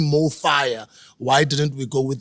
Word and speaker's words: MoFaya: to pronounce this word, it's pronounced the same in any language, in any country, right?